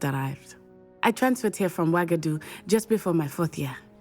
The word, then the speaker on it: Uagadou: Interesting way to pronounce a U, but I like it. Okay, thank you for telling me about Uagadou.